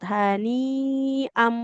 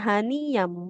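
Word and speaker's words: هَنِيئًا: dibacanya pas harokat hani am bukan hani yam.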